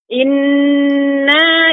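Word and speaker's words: إنّا: Inna ilaina iyabahum. Perhatikan Ibu pada kata inna tidak ada huruf mat sehingga dibaca dengan pendek. Inna ilaina iyabahum. Silakan diulang kembali. Ya Pak Ustaz. Inna ilaina iyabahum.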